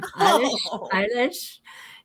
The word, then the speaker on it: Eilish: Eilish.